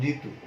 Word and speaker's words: ঋতু: আরেকটি উদাহরণ যদি দেখি, যেমন ঋতু, এটাও স্বাধীনভাবে হয়েছে, অর্থাৎ জি পূর্ণরূপে আছে, তখন তার উচ্চারণটি রয় রস্যির মতো হয়, ঋতু এরকম হয়।